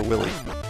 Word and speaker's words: Wily: It's Dr. Willy, I believe. I've heard it pronounced Dr. Wily also, but I've always thought of it as Dr. Willy.